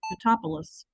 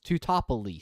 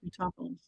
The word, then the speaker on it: Teutopolis: It rhymes with police.